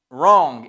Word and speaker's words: wrong: Vous allez me dire wrong. Exactement. Le W quand il est avant un R, il ne se prononce pas au début d'un mot.